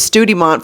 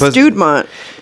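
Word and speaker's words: Studemont: I thought it was Studimont for the majority of my life. A lot of people say it like that. But it's Studmont.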